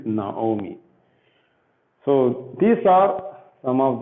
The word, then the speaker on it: Naomi: So here, even though we have the word, we have vowel patak, we pronounce it as O. That is why we say it as Naomi. This is not Naami. Okay, this is Naomi.